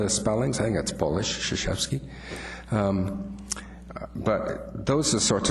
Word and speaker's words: Krzyzewski: That's spelled K-R-Z-Y-Z-E-W-S-K-I, but it's pronounced Krzyzewski.